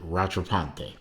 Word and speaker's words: Rattrapante: seems to be that he pronounced it Rattrapante. Rattrapante is a French word, which explains to you